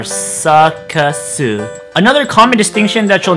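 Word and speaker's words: サーカス: In English, the word circus composes of basically 2 syllables, sir and kiss. But when we transmorgify that into the Japanese language, we have to use the Japanese sounds that resemble sir and kiss the most. And in the process of doing that, that actually changes the word into 3 syllables, in which they are sakasu.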